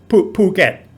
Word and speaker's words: Phuket: um pool get okay so again the aspirated p is written ph which to english speakers uh means f and in the 80s when brett started to hear about phuket in thailand they thought it was pronounced in a completely different way and found the pronunciation hilarious regarding what i was